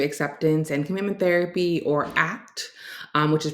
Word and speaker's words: ACT: Today we're going to be diving into acceptance and commitment therapy, or ACT, which is pronounced like the word ACT, not as the acronym ACT.